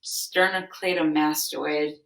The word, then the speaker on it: sternocleidomastoid: I can spell it I'm pretty sure it's pronounced sternocleidomastoid something goofy like that but sem what you're